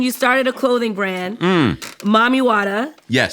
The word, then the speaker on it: Mami Wata: in 2017, you started a clothing brand, Mami Wata. Yes. Pronounced correctly. Mami Wata.